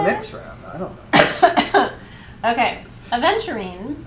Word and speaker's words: aventurine: it all the time so it's not adventuring it's aventurine we have to be